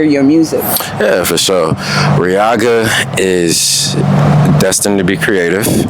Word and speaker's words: Riaga: And I don't know let me see if I'm pronouncing your name right. Yeah. How do you say it? Riaga. Riaga.